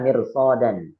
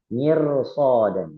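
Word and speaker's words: مرصادا: Bukan mirsod, mirsodan, bukan. Tapi bacanya mirsodan, mirsodan, mirsodan.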